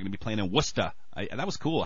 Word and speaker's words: Worcester: They're going to be playing in Worcester. That was cool how you pronounced that correctly.